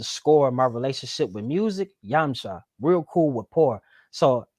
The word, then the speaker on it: Yamcha: with music is like yumchi real cool rapport what is she here oh yeah if i'm pronouncing it right okay so you'll be the first that i'll break that down for so it's it's yamcha so real cool yeah